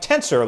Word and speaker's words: Tensor: and it is called tensor so when i first heard that i'm like tensor like oh my arms are tenser after working out no not that tenser it is spelled like the word sensor except with a t at the start of the word so that it's an